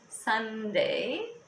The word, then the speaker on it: sundae: of course is that it's pronounced sunday even though the spelling's different um not sunday so